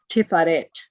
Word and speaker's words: Tiferet: About that, it's called Tiferet, T-I-P-H-A-R-E-T-H. P-H is, as in, fuck you.